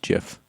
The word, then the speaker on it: GIF: a legal bought me it's pronounced jiff no like a present so drew carpishin i